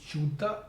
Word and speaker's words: Ćuta: His surname is ČUTA. It's C with a diacritical slash over it, which is pronounced as č in Serbian.